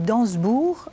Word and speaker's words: d'Ansembourg: vous êtes né c'est c'est curieux on dit danssebourg alors que ça s'écrit dansembourg oui mais pas d'explication non c'est